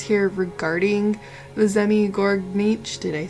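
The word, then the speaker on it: Zmey Gorynych: So it looks like this is going to be the Zni Grinich, according to a pronunciation thing I just listened to.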